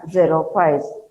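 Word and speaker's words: xerophytes: plants are known as zero files how to pronounce this one it is called as xero5 zero means dry files means plants these plants show the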